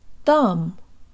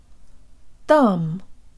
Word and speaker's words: там: lip surrounded and protruded thumb thumb but there is pronounced with the part of the tongue just behind the tip that's the portion that